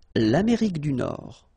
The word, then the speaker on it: Nord: Final D, not pronounced. L'Amérique du Nord.